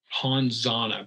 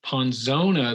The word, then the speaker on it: Ponzona: you're gonna hate this it's called ponzana but it's ponzona they just said it wrong like poison in spanish oh oh it's so